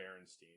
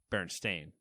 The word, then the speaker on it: Berenstain: Or was it Berenstein? See, that's so you're spelling it the way that everyone thinks it's spelled, but it's not. But is it Berenstein? It's Stain. Berenstain.